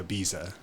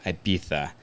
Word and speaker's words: Ibiza: I would definitely say Ibiza right so Ibiza is correct yeah it's the Spanish pronunciation of it I would have a